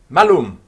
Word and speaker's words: malum: malum not so hard remember that it's malice with a short a okay if you have a long a it's something completely different it's the master a